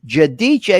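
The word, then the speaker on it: Giudice: Judiche is how you say it.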